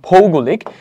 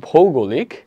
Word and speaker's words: ভৌগোলিক: সাধারণত সাইবার অপরাধের কোনো ভৌগোলিক আবার উচ্চারণে মাঝে মাঝে একটু সমস্যা খেয়াল করছো তোমরা? আমার পড়া উচিত ভৌগোলিক, আমি পড়তেছি ভূগোলিক। নাটকে একদমই ঠিক না।